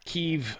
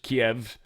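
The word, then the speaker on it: Kyiv: He attacked Keev again, which is just Kiev, but it's how they say it when it's pronounced in Ukrainian.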